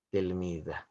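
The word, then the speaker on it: تلميذة: remaja putri alfatatu tilmidah tulisannya tilmidah pengucapannya tilmizah J remaja putri itu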